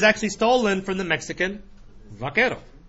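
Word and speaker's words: vaquero: in the wild west Buckaroo is an English bastardization of the word veto wow yeah Buckaroo is vako it is mispronounced it over time but vako is a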